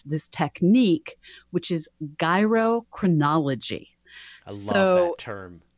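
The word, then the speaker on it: gyrochronology: this technique which is gyro chronology so term just like gyroscope I the the idea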